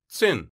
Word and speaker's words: it's in: In natural English, it's in sounds like tsin.